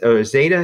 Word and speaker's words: zeta: say Zed or whatever it's kind of like there's like a Z and a D back to back like stay data it's kind of way